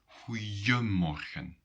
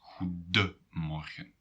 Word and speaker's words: goedemorgen: So in spoken language, people sometimes say goeiemorgen and not goedemorgen. But when you write it down, then it will always be goedemorgen.